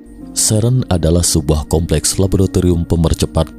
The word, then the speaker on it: CERN: dalam bahasa Perancis pengucapan singkatan dari serem juga diucapkan dalam bahasa Perancis Sheren adalah sebuah Kompleks laboratorium